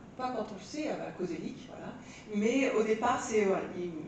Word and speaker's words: Koszelyk: parce que mon nom est assez difficile à prononcer et donc alors pas quand on le sait coséic voilà mais au départ c'est voilà il m'